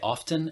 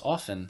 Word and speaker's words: often: tea or go t sometimes I pronounce the T like I've been called out on this before where someone's hears me say often and then they say no no it's often it feels really weird it doesn't see feels really weird but I think it's more correct to pronounce it without the T of course if you